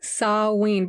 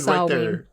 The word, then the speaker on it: Samhain: Samhain? Samhain, but it's spelled Samhain. But it's Gaelic, which I don't know how to read Gaelic. Yeah, so it's pronounced Samhain.